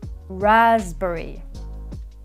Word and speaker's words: raspberry: words after me and remember the p is silent pneumonia psychopath receipt raspberry and psoriasis next phrasal